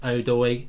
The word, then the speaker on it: Odoi: I know it's pronounced Odoi. I've just done Odie from the start because it's funny.